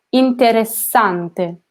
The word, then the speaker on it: interessante: Listen to that I double the S. Interessante, okay?